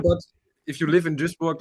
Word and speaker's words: Duisburg: If you want to pronounce it correctly, it's Duisburg. Duisburg.